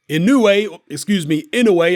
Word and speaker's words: Inoue: Inoue, I always get pulled up for mispronouncing his surname, scores yet another spectacular early